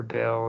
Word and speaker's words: Baal: cycle Bale yeah well I call him ball yeah I don't know yeah I think uh I think actually Brian Ru pronounces it the same way actually no Robert Morningstar pronounces it Ball but uh for me it's I'm I'm pretty sure Bale is the proper way but jump down turn